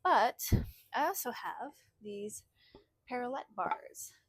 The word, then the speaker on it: parallette: Um but I also have these parallette bars. Perlet is what they are. So, it's kind of like um ballet is how it's spelled, but parallel. So, um I actually made these.